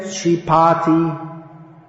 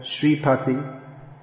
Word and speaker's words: Sripati: of practices and then we get sheeparty instead of sripati devotees are very kind